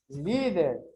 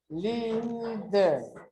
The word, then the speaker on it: líder: Líder. Líder. Líder. Sería última, penúltima.